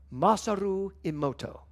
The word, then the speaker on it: Masaru Emoto: So, I have a quote from, next quote, Thor, Masaru Emoto.